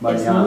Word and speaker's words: Mañana: It's Mañana. nya. Yeah. Yeah, Yeah. yeah, okay. Just like in Canyon, because Canyon really is spelled, say, enye, o ene.